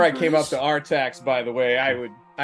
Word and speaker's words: Artax: Yes, Artax.